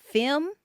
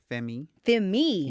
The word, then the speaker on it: FEMMÉ: Femi. FEMMÉ. Yeah. Okay, FEMMÉ. FEMMÉ. Yeah. We don't know how to pronounce that.